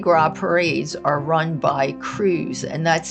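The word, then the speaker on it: Krewes: Number seven, Marty Gro parades are run by Cruz, and that's spelled K R E Wes S.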